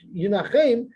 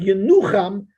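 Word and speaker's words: ינחם: Even though it's pronounced Yinachem, but since there's no aleph in between the nun and the ches, or there's no hey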